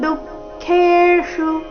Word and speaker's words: दुःखेषु: ಅಧಿಕಣ ಇದೆ ಶೀತೋಷ್ಣ ಸುಖ ದುಃಖೇಷು ಚರಣದ ಕೊನೆಗೆ ಬಂದಿರುವ ಶು ರಸ್ವ ಬರಬೇಕು ದುಃಖೇಷು ಈ ರೀತಿ ದುಃಖೇಷು ಹೀಗೆ ಅದನ್ನ ದೀರ್ಘ ಮಾಡಬಾರದು ತಥಾ ಮಾನಾಪಮಾನಯೋಹೋ ತಥಾ ಥ